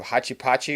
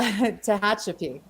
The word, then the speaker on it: Tehachapi: best reseller and realtor in how do you pronounce where you live Hachi Pachi or something like that that's where I live what's the problem pronunciation uh Tehachapi it's a oh it's close yeah American name